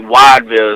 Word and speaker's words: Whiteville: It's like Wideville is how people pronounce it.